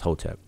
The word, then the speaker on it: Hotep: So this is a triliteral, and it will be transliterated as a capital H, T, and P. So we pronounce that as Hotep.